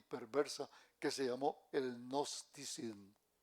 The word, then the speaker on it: gnosticismo: Gnosticismo, que se escribe G de gloria, sí, los gnósticos.